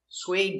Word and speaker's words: suede: was he was wearing suede boots suede is a stop D we don't say suede D stop suede suede link to the next